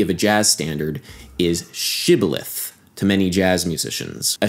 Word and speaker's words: shibboleth: said now unto him say now shibboleth and he said sibileth for he could not frame to pronounce it right he was a